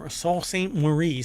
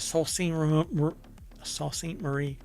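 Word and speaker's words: Sault Ste. Marie: University in Sal St Sal St morce sorry I have to say it right Sal sa St Marie uh Michigan launched the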